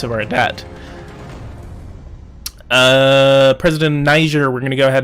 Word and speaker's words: Niger: No, it's not Niger, it's Niger.